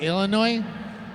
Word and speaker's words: Illinois: out to you o the S is silent yes like Illinois yeah yeah I get